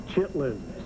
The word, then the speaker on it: chitterlings: The sign says chitterlings. It is pronounced chitlins.